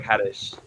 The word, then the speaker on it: Hades: h-a-d-e-s like hades but the pronunciation is more like haddish and um so uh